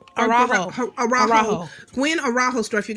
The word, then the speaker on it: Araujo: and I think if I pronounced the last name wrong, I'm sorry in advance. But it's the Gwen Herrero. Araujo.